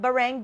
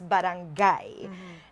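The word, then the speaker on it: barangay: It's not bang it's barangai and v um project because you know project is something that is ongoing.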